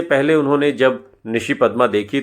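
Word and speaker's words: নিশিপদ্ম: बनी थी बांगला फिल्म निशि पद्मा और फिल्म के निर्देशक स्वामिक सेन बताते हैं कि यह बांगला की बहुत मशहूर फिल्म है और इसका उच्चारण बांगला के मुताबिक निशी पद्दो है शक्ति सामंतास बनाने का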